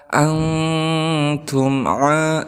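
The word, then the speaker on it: أَنْتُمْ: Harus ada antum, kemudian ada mim sukun bertemu dengan ain, maka di sini dihukumi sebagai izhar syafawi karena ada mim sukun bertemu dengan ain, salah satu huruf izhar syafawi. Maka harus dibaca jelas mimnya. wala antum abiduna ma a'bud.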